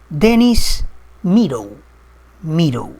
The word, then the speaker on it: Dennis Meadows: Hay un señor que lo mencioné hace un ratito, de nombre Dennis Meadow, así se pronuncia, ese es su nombre.